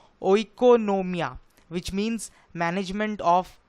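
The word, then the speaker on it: οἰκονομία: word से आया है और उसका ग्रीक प्रोनाउंस कुछ ऐसा है इकोनोमिया व्हिच मींस मैनेजमेंट ऑफ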